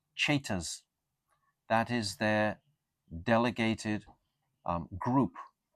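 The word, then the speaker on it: Ceta: They are Cheta Sakhas. C-E-T-A. That's how you pronounce it, Cheta.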